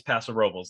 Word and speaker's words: Paso Robles: call it um so if you live there it's Paso Robles that is officially the correct way to say it even though obviously it's derived from Spanish and that is not how you would pronounce it in Spanish so the thing that